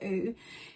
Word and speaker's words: OOOOO: honest honest as always when i first heard of the app i wasn't quite sure how it's pronounced and then i found out it was ooh and then i was